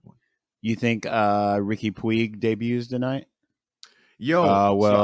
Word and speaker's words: Puig: you think uh ricky puig debuts tonight yo oh well i learned his name is push push ricky pooge is pronounced push i was like what